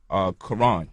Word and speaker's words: Quran: Or you look at the word Quran. In English, we just pronounce the K and the Q the same exact way. But the Q is supposed to be pronounced like from the back of the throat, like when we making